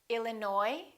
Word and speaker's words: Illinois: cupboard my kitchen cupboard silent s Arkansas Illinois Island debris all right one